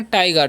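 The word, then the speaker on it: tiger: आई जी ई आर तो इसे turgor नहीं पढ़ना है बहुत सारे स्टूडेंट टगर पढ़ लेते हैं टगर नहीं पढ़ना है क्या पढ़ना है टाइगर टाइगर का मतलब क्या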